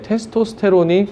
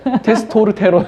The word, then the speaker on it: 테스토스테론: 그러니까 참 신기한 게 테스토스테론이 이 피로감 극복에도 참 많이 도움되거든요. 그래서 그 주사 맞을 생각하지 말고 운동하시라고 운동을. 아니 테스토스테론은 피로 회복제 테스토스테론. 그게 네, 아까 발음하실 때 테스토르테론.